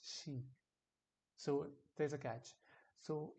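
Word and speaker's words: し: not the same way it's not see it's she so that is one catch which you have to remember and pronounce it correctly for a brain to memorize for a brain to memorize it correctly so we pronounce pronounce it she from now on like a she in sheep she let's hear it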